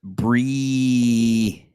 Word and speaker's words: Bree: miss you you have you have to spell your name with more eyes when you write it Bree because it's pronounced Brie yeah strawberry the foreign